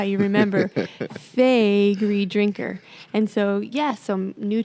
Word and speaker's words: Faegre Drinker: that Mark is I always tell people to remember we are your favorite lawyers that's how you remember fagy Drinker and so yeah so